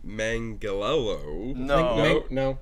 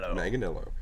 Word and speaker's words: Manganiello: John Manganiello. No. Manganiello. Manganiello.